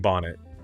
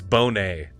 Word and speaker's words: Bonet: thank you Darnell leak this is how you pronounce it and I was saying Bonnet it's Bonet which of course it is because it it